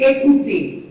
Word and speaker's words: écouter: On dit écouter. No pueden decir parler, écouter, marcher, chanter. No. La ER suena como E, boca abierta.